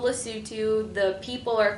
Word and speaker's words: Lesotho: okay and uh that's when you you you pronounce it lutu MH I asked my phone how do you pronounce this and they said L what's it not loto nobody nobody says loto there not in lutu